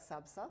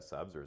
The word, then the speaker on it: SABSA: So you're a big advocate of using frameworks like SABSA. Yeah, correct. Hope I've pronounced that properly.